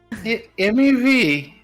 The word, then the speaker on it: Mev: meet you as well my name is mev that's a wonderful name oh thank you it rhymes mev moon tree she's like she's